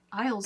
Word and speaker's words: aisle: other word that like Isles in the store a i s l e and we still say Isle there's still no s sound yep not at all